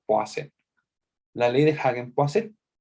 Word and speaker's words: Poiseuille: escribe hoy si willy pero no se dice por su witch se pronuncia o hacer la ley deja bien pase es la ley